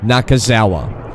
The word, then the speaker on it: Nakazawa: Nakazawa.